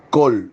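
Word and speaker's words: קול: y la letra lamet col se dice en hebreo bos col y esta expresión tiene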